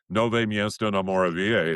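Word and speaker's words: Nové Město na Moravě: Nove Miesto na Moravia."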